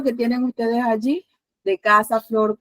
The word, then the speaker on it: casa: En este caso, casa tiene la mayor fuerza de voz en la penúltima sílaba.